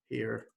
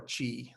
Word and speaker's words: chi: It's like the X in the word Mexico, right? That's the Latin. A Greek letter. I think it's called he. Squared distribution, or chi. Some people say chi.